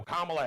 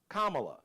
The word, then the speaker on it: Kamala: So pronounce it, think of comma, like a comma, like her nieces at the Democratic National Convention, 2 syllables.